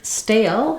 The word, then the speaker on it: stale: Then our next word, stale, has the A diphthong. We can see, even though we spell it with A and E at the end, letter E at the end of stale makes A say its name, like letter A.